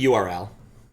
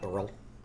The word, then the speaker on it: URL: pronounce Earl uh usually URL not Earl I think most a like web things I generally pronounce by spelling them out rather than pronouncing them like uh hre m